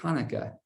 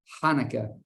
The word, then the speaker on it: Hanukkah: it starts with a a sound that we don't really have in English it goes high like almost like there's popcorn stuck in the back of your mouth Hanukkah so you might see it spelled with a CH you might see it spelled with an H it's because it's trying to it's best to make that Hebrew sound but it's not quite the sound so when you say